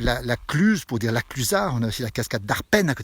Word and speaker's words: La Clusaz: l'histoire et d'ici ou le z était une prononciation non pas une lettre donc on l'a on ne l'écrit on ne l'a prononçait pas par exemple la clusaz pour dire la clusaz